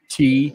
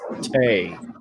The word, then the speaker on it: tea: It's not pronounced tea. It's tay. Sweet tay. Sweet tay. Sweet tay. You got to say it in Southern style.